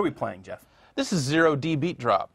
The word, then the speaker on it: 0D Beat Drop: playing Jee this is zero D beat drop is that how you say it you don't say OD no idea it is clearly a zero yeah it's too tall